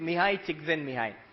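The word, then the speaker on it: Mihaly Csikszentmihalyi: You pronounce it Mihai Csikszentmihalyi.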